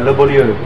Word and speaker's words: Le Beau Lieu: ี้ นะครับเลบูเรียเลบูเรีย สำเนียงดีมาก อย่างนี้ดีกว่าให้ทางคุณคิวเป็นคนพูดสุดแบบว่าเป็นฝรั่งเศส The pronunciation will be le beau lieu le beau lieu which is the nice place และที่นั่งกับเรานะครับก็คือคุณเคนและคุณคิวนะครับ สวัสดีค่ะ สวัสดีครับ สว